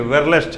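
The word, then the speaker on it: Verelst: Actually वेरे नहीं है, वेरलेस्ट है ये। इसका स्पेलिंग होता है WERRLEST ऐसे।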